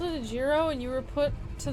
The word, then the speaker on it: gyro: Euro zero jirro from Google AI jlo you don't have many Greek food choices to comment it's pronounced yuros but the thing is the Greek word jirro